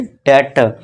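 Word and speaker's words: debt: Complete डेट। इसी तरह देखिए टी से पहले फिर से बी आ गया। तो यहां साइलेंट हो जाएगा।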